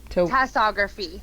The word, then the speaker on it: tasseography: To Tassography. Tassography. Yeah, give it a Google. It's fascinating. How do you spell it?